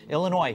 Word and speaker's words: Illinois: Indiana and New Jersey Illinois silent s I found out meanwhile